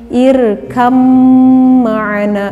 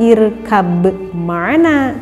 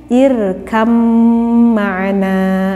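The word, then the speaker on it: ارْكَبْ مَعَنَا: kita membacanya harus mendengarkannya jadi seperti dicontoh Ini irkham mana Bukan irka bgmana tetapi irkam mana seperti itu ya mudah-mudahan Eh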